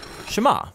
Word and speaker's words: Shema: Now the first word of the Shema is hear or listen, which in Hebrew is pronounced Shema.